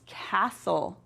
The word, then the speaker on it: castle: Let's look for those ghost letters. I once heard a funny ghost story. The ghost in the story had a strange hobby. It liked to bake rhubarb pies. The ghost lived in a prince's castle. Look right there. You see it? Castle. Good job.